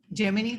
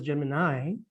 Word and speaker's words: Gemini: the germany and americans we pronounce this as germany not as gemini and surround the circle